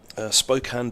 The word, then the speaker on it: Spokane: Spokane Dan. Or was it Spokane?